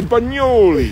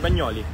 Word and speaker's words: Bagnoli: So you have to say Bagnoli. Bagnoli. So I got to work on my pronunciation. Yeah, it's the right pronunciation, Bagnoli.